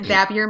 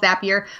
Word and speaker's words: Zapier: has one p and the way you pronounce it it should have two PS but yeah it is called zapier but they wanted api